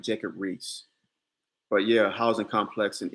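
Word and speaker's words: Riis: here yeah okay jacob reese it's spelled our uh the last name of it is spelled r-i-i-s i think i'm saying that right jacob reese but yeah housing complex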